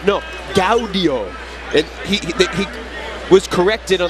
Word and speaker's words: Gaudio: showed up for dinner reservations party of 4 Gaudio, and the person corrects him and says, no, Gaudio.